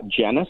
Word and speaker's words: Janus: truck trial using uh Janus I think is the way you pronounce it j-a-n-u-s it's a Janus electric